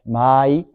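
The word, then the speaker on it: Ma-ai: Mai, que l'on prononce en fait Mai, signifie en japonais intervalle.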